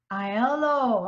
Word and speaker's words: Aiello: say your last name Aiello I hello okay it's Italian okay oh I love